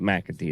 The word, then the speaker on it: McAtee: If you like that and you thought, man, this guy's got a good voice, his name is spelled, first name's, but McAtee.